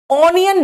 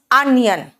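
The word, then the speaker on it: onion: ऑनियन नहीं होता प्याज, इट्स अनियन।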